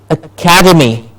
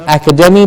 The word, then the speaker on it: academy: Like academy. Yes, the word ACADEMY, academy. Academy. Not academy, but academy.